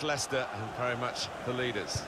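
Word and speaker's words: Leicester: of the world try to learn how to pronounce their name lyse ester Ally Chester we got a lot of that didn't we but very much Lester and very much the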